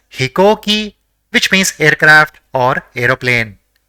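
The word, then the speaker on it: ひこうき: So it will be pronounced as hikoki, which means aircraft or aeroplane.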